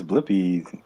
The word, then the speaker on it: Blippi: Yeah, I'm looking up this Blippy. Am I saying it wrong? No, you're right. Blippi.